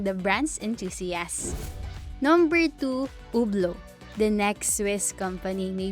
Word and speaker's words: Hublot: keep in mind that a French words T at the end and it's each at the beginning are not pronounced for proper pronunciation the four letters in the middle Hublot are all that is left number three jackedro the next